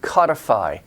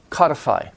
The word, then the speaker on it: codify: If you mispronounce the stress, people might misunderstand you. Another good example, discrete discretion. code, codify. Code, that's an O, long O, code. Codify.